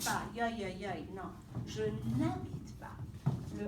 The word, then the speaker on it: n'habite: Because the H, as a reminder, H is silent in French. Le H est silencieux. Je ne dis pas, je ne habite pas. Non. Je n'habite pas.